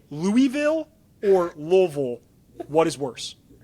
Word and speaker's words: Louisville: Um, we have a little rapidfire Louisville Cardinal edition.